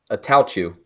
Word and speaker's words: Attaochu: Attaochu.